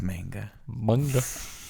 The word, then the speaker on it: manga: up front a little manga my manga it's manga this is are you at it I know